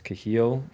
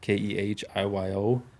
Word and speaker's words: Kehiyo: My name's Kehiyo, Kehiyo. For my Nehiyaw, I know it's not how it's spelled. It's spelled a little differently.